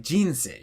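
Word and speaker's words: 人生: If you say a Tamadaka word like jinsei, you just hear that it has this giant release of energy right after the beginning of the word and then tapers off.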